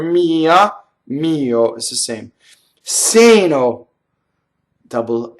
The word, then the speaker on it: seno: Seno, single N. That's the one we want for this. Sɛmpre, we've done.